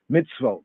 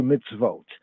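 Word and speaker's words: מצוות: a Mitzvah the plural of Mitsuwa right is mitzvotes or mitzvotes mitz wrote mits wrote right in the afro-semitic pointing but modern Hebrew mine we also circumnavigate that as in its vote mitzvot modern Hebrew mitzvot ancient pointing for our purposes where we going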